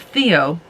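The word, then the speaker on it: Theow: then you also have Theo who it's spelled it sounds like a name but it's spelled t-h-e-o-w and apparently that was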